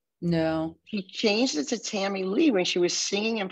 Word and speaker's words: Tamilee: So if you're from the South, you would say Tamilee. Oh, I'm sorry. I've been saying it wrong. Tamilee. If you're from California, say Tamilee. Just don't say Tamilia.